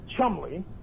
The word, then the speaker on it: Cholmondeley: that's the correct spelling it's a very old name and you pronounce it chumly and the quick reason